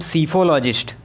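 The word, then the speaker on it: psephologist: Spellings आपको याद रखनी है दोस्तों, पी से शुरुआत होती है इसकी, पी यहाँ पर साइलेंट होता है तो इसे पढ़ते हैं हम सीफोलॉजिस्ट, लेकिन यहाँ पर पी लगा होता है।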